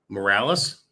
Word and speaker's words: Morales: we go chastity morales morales yeah but it's spelled like morals and it's i'm gonna